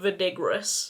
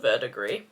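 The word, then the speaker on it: verdigris: atrociously and I apologize part of me still wants to call it vinegaris but we're gonna put respect on its name and call it verdigree camera really hates doing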